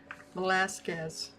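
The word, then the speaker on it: Velázquez: I'll have to Google how to pronounce it correctly. Velasquez. Thank you. Thank you, Google. Velasquez.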